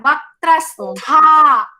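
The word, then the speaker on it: वक्त्रस्था: Yeah, that is for Tha. I am telling Mahaprana. Vaktrastha.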